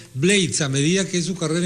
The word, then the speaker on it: Blades: Maestra Vida de Rubén Blades o Rubén Blades, como usted prefiera. Antes se pronunciaba más Blades. Ahora el propio Rubén está hablando de Blades a medida que su